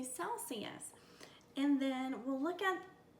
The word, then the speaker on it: Celsius: reminds my brain that this is the soft C sound we don't say Kelsey yes we say Celsius and then we'll look